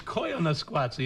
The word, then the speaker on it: Koyaanisqatsi: you very much but and I think it's Koyaanisqatsi isn't it I'm sorry you're right i mispronounced no one here cares but you and